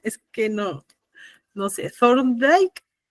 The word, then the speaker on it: Thorndike: Luego de ahí pasamos a ¿cómo se pronuncia? Es que no sé, Thorndike. Thorndike, ajá, sí, Thorndike.